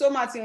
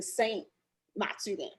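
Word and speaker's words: Saut-Mathurine: It's Somaturin. It's spelled Sautmathurine. Somaturin. For the longest, I thought they were saying Saint Maturin. But it's Somaturin. So it's like Somaturin. So it's the largest waterfall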